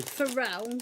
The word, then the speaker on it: Pharrell: Pharrell? Well, how would I know that? I don't know who the guy is. What were you saying? Pharrell Williams. It's spelt Farrell.